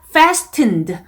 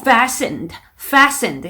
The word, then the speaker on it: fastened: fastened 라는 단어가 나왔는데 벨트가 채워진, 채우다, fasten 하면 벨트를 채우다라는, 매다라는 의미인데 여기에서 T가 소리가 안 나요. 그러니까 fastened 라고 잘못 발음하신 분들이 있었습니다. 그래서 T 소리 빼시고 fastened 이렇게 읽어주시는 거고요.